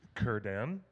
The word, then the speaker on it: Círdan: you this letter that when you have a letter C before any vowel sound it's a hard K that's why scred an